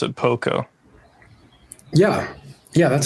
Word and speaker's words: Pokko: Or I don't know if you pronounce it Pokko.